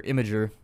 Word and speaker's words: Imgur: Which, by the way, I saw a thing on Imgur about that, or Imgur, I guess is how you say it.